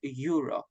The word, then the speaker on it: Euro: correction Euro Disney right the pronunciation of that word is Euro similar to the continent Europe right Europe well done thank